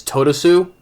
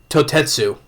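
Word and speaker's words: Toutetsu: I do believe it's Totosu. Totosu. Let me get the name right. Totetsu. That's how you say it.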